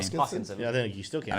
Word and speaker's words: Hoskinson: So I was juxtaposing Elon Musk to Charles Hodgkinson at the time. I could not pronounce his name. Hoskinson.